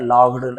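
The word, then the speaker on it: laughed: and said Raju Hansa लाफ का second लाफ्ड यहां देखिए ओ यू जी लिखा है आपको और कुछ नहीं पढ़ना पड़ेगा सर लाफ्ड ऐसे पढ़ना ही फ लाफ्ड एंड सेड और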